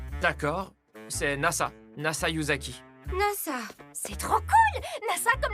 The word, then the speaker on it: Nasa: NASA. C'est trop cool. NASA comme l'agence spatiale. Pas tout à fait. Ça se lit NASA, mais ça s'écrit avec les kanji du ciel étoilé.